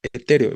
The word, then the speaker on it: etéreo: dijimos forman yato entonces Cuántas sílabas tiene la palabra etéreo vamos a escribirlo acá e una t otra re otra o no entonces tiene cuatro sílabas e t re o no la tónica está en la penúltima aquí la sílaba tónica les reitero tendrá que ser la penúltima y por eso como